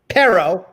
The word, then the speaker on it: perro: h2b extension yes but perro per yes did I say that right have to roll the R I can't do it right